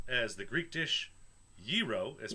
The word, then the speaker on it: gyro: as the Greek dish yiro is pronounced yir with the emphasis on the first syllable whatever Greek burrito I